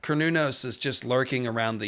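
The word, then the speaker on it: Cernunnos: A lot of people say Cernunos. It's more correctly pronounced Cornunos.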